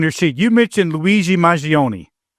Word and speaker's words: Mangione: You mentioned Luigi Mangione. I think I'm pronouncing that right. Mangione, right? Okay.